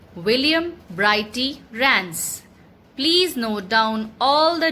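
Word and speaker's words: William Brighty Rands: The poet of this poem is William Brighty Rance. That is the pronunciation. Let me repeat it for you. William Brighty Rance.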